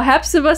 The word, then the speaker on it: Hepzibah: What method did Tom Riddle use to kill Hepzibah Smith?